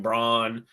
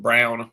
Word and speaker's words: Braun: Christian Braun, um, Brown, my bad.